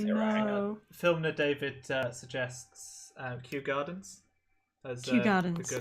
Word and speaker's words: Kew: Filmer David suggests Kew Gardens as Kew Gardens. a good like. Okay. I have never seen Kew Gardens written. I assumed it was the letter, but learn something new every day.